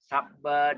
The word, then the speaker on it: sabba: Sabba, Dhamma, pause at double consonant. some consonants which are repeated in Pali and all that. Remember, pause slightly between the double consonant. That means Sabba. We say Sabba, Dhamma, Dhamma.